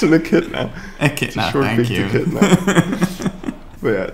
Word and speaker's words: echidna: a zoo tour video to finally see the Adnitsha. Come on. Adnitsha? I don't know how to pronounce it. It's an echidna.